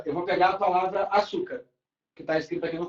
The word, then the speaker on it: açúcar: Por exemplo, aqui, ó, eu vou pegar a palavra açúcar, que está escrito aqui no quadro. A palavra açúcar, qual é a sílaba tônica?